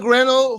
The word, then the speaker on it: Grenell: post from Richard Gren is that how you pronounce it right yeah that's correct yeah Richard grenell who was the uh Ambassador uh who special